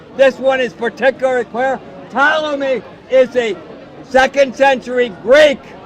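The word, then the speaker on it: Ptolemy: You're saying but Tommy is from the second century. Yeah. 80 the P is silent. 80.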